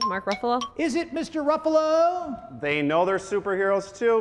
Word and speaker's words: Ruffalo: Ruffalo they know they're superheroes - because that's correct yep Ruffalo rhymes with Buffalo another 10 drop to